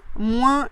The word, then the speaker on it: moins: Ensuite, on a la prononciation du mot moins, moins et moins. Donc, plutôt dans le sud-est de la France, on prononcera le S final.